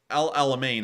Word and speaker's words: El Alamein: likely be Russia's Dunkirk uh El Al Amin Al Alamein I believe I actually sorry I have to pronounce stick correctly Al Alamein is also somewhat